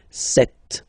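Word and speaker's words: sept: Then here, remember, P is not pronounced. Okay, it doesn't exist. So you got this set sound.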